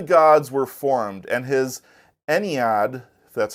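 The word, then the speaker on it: Ennead: thus all the gods were formed and his ened that's how you pronounce it was complete and now this this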